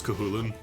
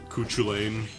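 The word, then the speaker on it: Cú Chulainn: to persona persona 3 for teaching me how pronounce kulin and not cuchulain or chuch Chu train or whatever people will say mimic you think people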